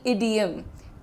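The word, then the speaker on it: idiom: वाला अच्छा एक चीज इडियम ना बोलिएगा इडियम होता है। द प्रोनाउंसिएशन इज छोटी इ जैसे इडली बोलते हो इडली तो नहीं बोलते राइट इडली वैसे ही इडियम इडियम आपको बोलना है।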